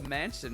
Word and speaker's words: mansion: How about the mansion on the western outskirts? Mansion? You know, a big house, a manor. pronounced just like the things you were apparently raised without.